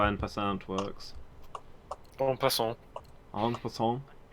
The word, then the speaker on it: en passant: I can never remember how en passant works.